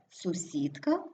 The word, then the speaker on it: сусідка: закінченні наприклад загадки огірки у більшості іменників жіночого роду і суфіксом ки при утворенні множини наголос переходить на закінчення наприклад тарілка тарілки книжка книжки але сусідка сусідки іменники які утворилися від